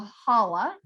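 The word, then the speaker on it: challah: egg bread called a holla and if you notice it's spelled with a ch because it's like a collar we don't have that you know it's especially we don't have that sound in english but it's traditional to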